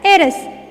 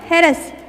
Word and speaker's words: heiress: For example, an adult, an X-ray, and heiress. Here third one example, h should be silent. Heiress, not heiress.